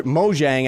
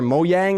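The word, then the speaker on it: Mojang: the community and Minecraft moang I guess I should say or moyang I think that's how it's pronounced but either way I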